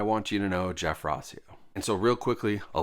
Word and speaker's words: Rauseo: Rauseo, Rauseo, Rauseo, but it's Rauseo. Rosseo. That's sort of how I would phonetically say it. Ross-E-O.